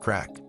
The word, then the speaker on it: craic: It's called crack, pronounced crack.